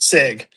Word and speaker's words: Sieg: Sieg.